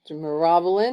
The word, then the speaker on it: Myrobalan: hope I'm right yeah according to the American Heritage dictionary of the English language it's pronounced Morin as you can see there